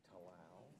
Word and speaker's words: Tallal: How do you pronounce the witness's name to you? Robillard. Okay. Tallal.